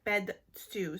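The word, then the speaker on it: Bed Stu: then the last one is bed stew so that's a shoe band and that's true and that's how you pronounce it but yeah i've heard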